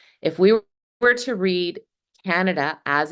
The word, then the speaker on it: Canada: Most of us pronounce this word, we stress the first syllable, the ka, then we hear the short sound, and the next two vowel sounds, they're reduced to the schwa.